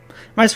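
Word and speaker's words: Visser: I think it's pronounced Visor, not Visor.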